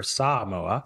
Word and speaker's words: Samoa: place to focus and notice that pronunciation everybody pronounces it a little bit wrong than the locals actually prefer Samoa s okay yeah exactly uh you know this